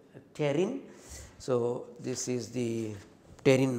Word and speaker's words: pterin: Okay, this is, I will write down here so that you will, P is silent, pterin.